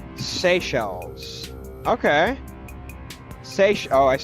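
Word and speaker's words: Seychelles: From what I'm seeing, those islands are pronounced Sey Shells.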